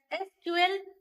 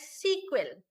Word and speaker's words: SQL: Relational database management system use the language known as SQL structured query language which is pronounced as SQL or sometimes as SQL.